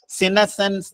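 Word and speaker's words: senescence: അതിന്റെ സ്പെല്ലിംഗ് നിങ്ങൾ ശ്രദ്ധിക്കുക, സിനസെൻസ്. സ്പെല്ലിംഗ് ശ്രദ്ധിച്ച് നോക്കിയ നിങ്ങള്, സിനസെൻസ് എന്നാണ് അതിന്റെ ഉച്ചാരണം.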